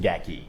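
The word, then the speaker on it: Gathje: GI spelled G A T H J E pronounced Gaki. Gaki.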